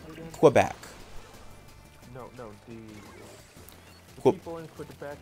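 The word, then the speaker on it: Québec: do you pronounce it again? Quebec.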